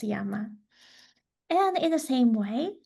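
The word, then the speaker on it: 山: It's pronounced yama and in the same way this was the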